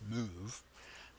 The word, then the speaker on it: MOV: assemblies so the MOV that leads this instruction pronounced move what that does at least colloquially is it